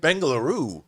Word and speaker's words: Bengaluru: 30-y old man and I'm not going to pronounce this right bengoo bengoo wow you nailed it I want to